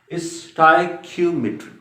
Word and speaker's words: stoichiometry: अक्सर इसको miss pronounce किया जाता है और इसका जो सही प्रोनाउंसिएशन है इस टॉपिक का, इस टर्म का, दैट इज स्टोइकियोमेट्री। ये इसकी करेक्ट प्रोनाउंसिएशन याद रखिए बेटा, स्टोइकियोमेट्री।